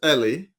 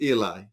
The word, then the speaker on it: Eli: In Israel, it is commonly pronounced Ellie. Mhm. In the US, it's commonly pronounced Eli.